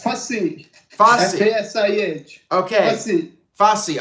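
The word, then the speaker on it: Fasih: Real quick, how do I pronounce your name? It's Fassi.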